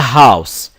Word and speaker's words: house: Tom lives in a house here the letter H is pronounced it is not silent it is pronounced ha